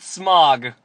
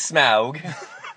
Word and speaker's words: Smaug: what did you think not smog like all of the AMC commercials had like smog smog smog you have to say it like you have a dragon or your Norwegian Smaug is smug go ahead I uh